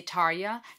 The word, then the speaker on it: Tarja: feel for talia's vocals um now I'm pronouncing itaria some of you may say tarya Talia um but Finnish heavy